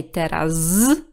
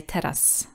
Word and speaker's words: teraz: For example, in the word teraz, we don't say teraz, we just say teraz. So it loses this vibration at the end of the word.